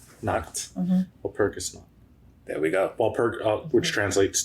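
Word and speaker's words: Walpurgisnacht: Oh, Woppersniet? That sounds right. I like that pronunciation. Oh, Walpurgis Nacht. Nacht. Mm-hmm. Walpurgis Nacht.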